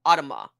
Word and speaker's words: automa: for automaton and so he pronounces it just like the first part of that word Autumn automaton automa yeah okay that's gonna